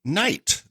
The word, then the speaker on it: Nite: All right, and so my number 6 for the year is Night by Night. Of course, that's spelled N-I-T-E if you're looking for them.